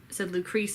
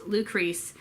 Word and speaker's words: Lucrece: I previously said Lucrece incorrectly. It's 2 syllables, Lucrece. It's the anglicized version of Lucretia.